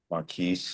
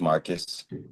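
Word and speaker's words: Markuise: Maris. Yes. Not pronounced Marcus.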